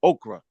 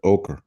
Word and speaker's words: ochre: those or I mean not okra probably saying it wrong that's early you know what I'm saying like you you got the ochre the o o h